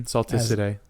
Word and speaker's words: Salticidae: Yes, it's in the family Salticidae or Salticidae. I think you're right on the second one. With the soft C. Mm-hmm. Salticidae.